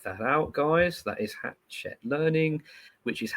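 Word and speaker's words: Hachette: That is hatch check learning which is h a c h e t is how that is spelled.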